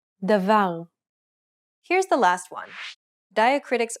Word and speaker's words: Davar: Where is the stress in this example? Davar. In this example, the final syllable is stressed. Stress will predominantly fall on the last 2 syllables of a word, with the final syllable being much more likely.